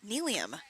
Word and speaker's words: Neelium: That is Neelium. Name rhymes with helium.